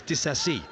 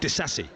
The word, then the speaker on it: Disasi: said he wants to, his name is Disasi, not Disasi. So that's why I've been calling him that. But apparently in the Premier League pronunciation guide, he calls himself Disasi.